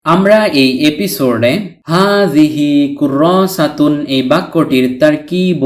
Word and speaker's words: كراسة: তাননুন ব্যতীত শুধু কুররাসা শব্দটির অর্থ হল খাতা, নোটবুক ইত্যাদি। হারাকাতুন উচ্চারিত না হলে এই গুলতাটি বাংলার হ বর্ণের উচ্চারণ দেয়। তাই কুররাসা উচ্চারণ করেছি।